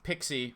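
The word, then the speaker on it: PKCE: it that so basically pixie right that's the pronunciation of this anyway according to actual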